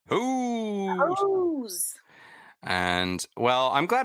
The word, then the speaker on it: Heauxs: It's all Ghosts, the letter N, and then HEAUXS. Pronounced Who's.